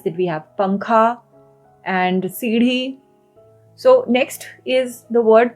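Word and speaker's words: सीढ़ी: Next we have the word for stairs, staircase, or even a ladder, which is seedhi. Seedhi. Okay, it's a very hard R sound. So it is seedhi.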